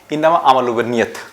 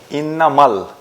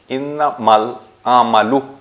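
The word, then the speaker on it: إنما الأعمال: যে ইন্নামা আমালু বিন্নিয়াত আমরা এটাকে এভাবে পাঠ করে থাকি ইন্নামায়াত কিন্তু ওভাবে নয় ইন্নামাল ইন্নামাল আমালু নিয়ত এটা হচ্ছে সঠিক উচ্চারণ যাই হোক প্রত্যেকটা কর্মই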